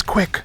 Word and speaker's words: CWC: CWC meaning his initials, or otherwise pronounced as Quick.